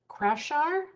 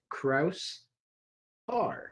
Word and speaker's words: Kraushaar: first fll partner krafshar did i get it right close enough what is it really the s and the h are pronounced separately okay so it's kraus r ah thank you curly